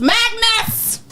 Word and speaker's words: MXGNS: And MXGNS pronounced Magnus.